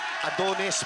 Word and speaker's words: Adones: One Time in China ah hindi pala wrong pronunciation saong mga higala dili talagang adones pala talaga ang pangalan adones lauronal capal Quinto